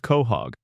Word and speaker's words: Quahog: The town is called Quahog, pronounced Quahog, named for the edible clam native to the northeastern coast of the United States.